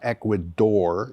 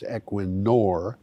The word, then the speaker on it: Equinor: solar plant equinor ASA that is not Equador it is equinor has launched its 531